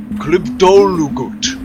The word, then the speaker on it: Klibdolugut: Klibdolugut. But everybody calls him Clib.